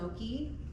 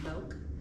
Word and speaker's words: Moke: It's actually, some people call it Moke, but I believe it should be pronounced Moke because it comes from, it's like a replica, reimagined from the 1960s Moke, British Moke, which they